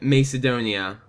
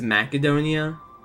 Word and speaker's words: Macedonia: maon it will rise I have been pronouncing that wrong my entire life I've always pronounce it Macedonia but it's macadonia like mac and chees Adonia U okay well that's cool